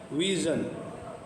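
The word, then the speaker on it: vision: ऐसे देखें एशिया है एशिया ठीक है ए सिया तो इसकी सा के बाद निकालेंगे दूसरा देखें विजन विजन एस जी हो गया विजन हो गया ठीक है और विजन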